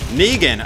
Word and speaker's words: Negan: out with these two though uh let's go negan all right i did say it right all